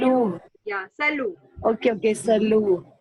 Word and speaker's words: Salut: Salute means hi. Again, T is silent, so salu. T is silent, Salut.